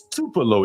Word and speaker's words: Tupelo: name of it again tup T tup T Mike come on Mike was laughing at you about how you pronounced it I was and I was trying to look it up I was like what the hell what city did he say it's Tupelo M get it right you've